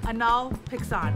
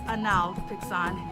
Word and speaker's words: Hanal Pixán: i for the pronunciation the google pronunciation is anal pixon but i've watched a couple of actual like youtube videos of spanish speaking people and they one speak crazy fast but i definitely hear an h sound like hanal on